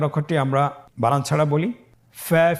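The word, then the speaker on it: فُ: প্রিয় শিক্ষার্থী বন্ধুরা, আজকের দার্সের পরবর্তী হরফটির নাম হলো ফা। ফা জবর ফা, ফা জের ফি, ফা ফি।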